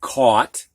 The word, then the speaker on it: caught: Caught. We don't hear the GH, it's just like C-A-U-T, caught.